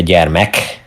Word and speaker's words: gyermek: You can always you can also say gyermek with an additional M. Okay. I think that's, I don't know what's the concrete what's the difference between the two, but maybe the gyermek is a bit more, I don't know, warmer, Okay.